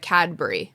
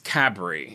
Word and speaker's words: Cadbury: People it's we're not saying it right. Cadbury. Yeah, it's Cabury. It's Cabury. But listen. The D is a B and there's no U.